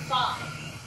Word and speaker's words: Fi: The fabulous No one knows how to pronounce Graham Cracker. Let me read the character and it's fucking fine.